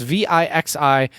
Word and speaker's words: VIXI: Is that pronounced Vici? It's Vixi, which means your life is over, I guess.